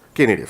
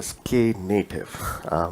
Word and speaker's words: Knative: serverless let's actually move to the actual kubernetes key native sorry okay native it's pronounced sk native it's basically a native platform for kubernetes so